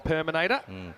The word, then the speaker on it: Perminator: I think we started calling him the Perminator. Rhymes with the Terminator.